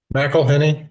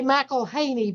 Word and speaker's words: McElhenney: McElhenney, you were close. Well, the locals say McElhaney, but that's not quite the way you pronounce it, is it? Well, that's the way most people pronounce it, but it's McElhenney. McElhaney's fine too.